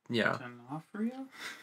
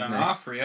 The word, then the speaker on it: D'Onofrio: D'Onofrio? I'm still trying to pronounce his D'Onofrio.